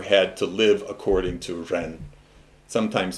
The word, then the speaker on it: ren: heaven the emperor had to live according to ren sometimes spelled j-e-n because it's pronounced but that's that's the term it sometimes